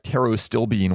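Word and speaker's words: pterostilbene: when you've got ingredients like taro stilbene with a silent P and phosphatidylserine and a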